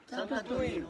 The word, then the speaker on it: Sant'Antonino: Sant'Antonino, comment on prononce ? Sant'Antonino.